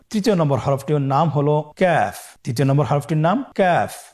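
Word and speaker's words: كاف: তৃতীয় নম্বর হরফটির নাম হলো কাফ। তৃতীয় নম্বর হরফটির নাম কাফ। কাফ উচ্চারণের ক্ষেত্রে অবশ্যই পাতলা করে উচ্চারণ করতে হবে। এবং তিন আলিফ টেনে পড়তে হবে।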